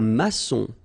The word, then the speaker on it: maçon: Un maçon. Here you can see that we've got this little cédille beneath the C, okay? And it just means that you will pronounce this C as S, okay?